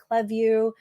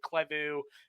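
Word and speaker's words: Klaviyo: get CLE we get cleu kind of just depends where on the globe you are how you pronounce but you're you're right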